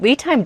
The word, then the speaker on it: LiTime: I do also want to say the correct pronunciation is LiTime, not LiTime.